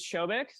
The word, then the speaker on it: Soubhik: yes so like Jared said my name is schic it's a fun way to pronunciation guide in case you need to remember